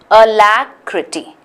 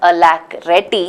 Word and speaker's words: alacrity: so B and D up the syllable sound syllable is incorrect the sound bubble sound is incorrect alacrity and it's not a lack ready so a is out our answer is C